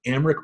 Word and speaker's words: Aymeric: I'm talking with Aymeric Manello. Hey. Did I pronounce that right? Yeah, you're good.